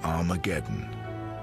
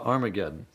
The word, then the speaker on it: Armageddon: to harm again to Armageddon and indeed in some of the earliest versions of the new testament written in greek our mageddon has an aspirant at the beginning meaning it's pronounced with an H so it originally was